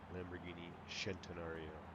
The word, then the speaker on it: Lamborghini Centenario: Lamborghini Centenario. That's the proper way to pronounce it.